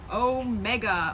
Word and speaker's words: omega: is the little o it's a long o so it can be like the um oh and that's maybe ah and soft or o and cold i guess so ah